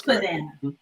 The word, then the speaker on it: Pydana: It's Pydana.